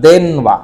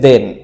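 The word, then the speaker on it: 電: দ্বারা দেন বুঝায় এবং এর উচ্চারণটা হচ্ছে দেন এবং তার অর্থ হচ্ছে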